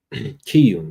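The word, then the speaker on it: Chiun: Kiyun, that's how you say it.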